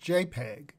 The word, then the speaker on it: JPEG: JPG, or JPEG, pronounced JPEG, stands for Joint Photographic